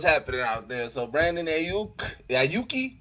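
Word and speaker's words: Aiyuk: So Brandon Ayuki, how you pronounce his last name?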